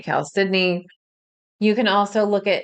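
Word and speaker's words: chalcedony: of the wonderful Stones the way I pronounce it Cal cidney that can be a stone that works really well some people say Caledon I say Cal cidney you can also look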